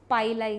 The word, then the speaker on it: pili: compatibility they have this it's pilai is what I pronounce so in the pile